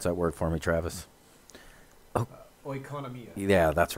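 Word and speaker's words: οἰκονομία: Pronounce that word for me, Travis. Oikonomia.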